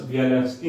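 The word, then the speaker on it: Bialiatski: नाम है इसका, ध्यान, चूंकि ये बेलारूस के हैं। ठीक, बेलारूस में अलग अलग भाषा, रशियन से टच थोड़ा बहुत कई भाषाएं बोली जाती हैं, तो जो नाम प्रोनाउंस होता है वो थोड़ा सा अलग हो जाता है।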